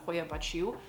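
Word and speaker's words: Hoia Baciu: count dracula hoya bachu forest that's how you pronounce that hoya bachu and the mary cemetery which in romanian is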